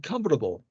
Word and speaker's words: comfortable: or comfortable comfortable and comfortable here is four syllables used three syllables in British we say three syllables comfortable American is comparable